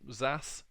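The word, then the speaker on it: XaaS: and real and exist even zas which is how you uh can pronounce it so that it effectively means anything as a service we're in a time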